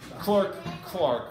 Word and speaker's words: clerk: Like Barclay, not Berkeley.